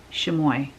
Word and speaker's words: chamois: Somebody, I called it chamois last time and someone said, it's pronounced like this. And she said, you know those things that you use to dry your car after you wash them? She says, it's pronounced like that.